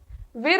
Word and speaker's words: वीर: परम का मीनिंग होता है अल्टीमेट, वीर इसमें ऐसा लिखा हुआ है लेकिन इट is pronounced as वीर, VEER।